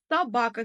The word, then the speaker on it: собака: Собака сөзінде екпін ударение екінші буынға түсіп тұр.